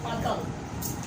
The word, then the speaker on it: autumn: एक जगह पर एन साइलेंट है लेकिन वो सिर्फ अंग्रेजी में एक ही वर्ड है और वो है ऑटम।